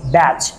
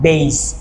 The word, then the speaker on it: batch: have to say batch the correct pronunciation of this word is batch the body match catch batch batch hatch but not base you have to say batch have you gone so